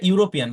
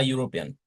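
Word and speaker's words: European: যদিও এটা ইউরোপিয়ান, কিন্তু এটা উচ্চারণটা হচ্ছে ওই যে ইউনিভার্সিটির মতোই, ইউনির মতোই। তাহলে এখানে হবে এ, mister bright is আ ইউরোপিয়ান।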